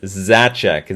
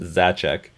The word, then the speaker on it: Zaczek: uh it's PR it's my last name is zachek Zed a z eek is pronounced zachek so popper Fox how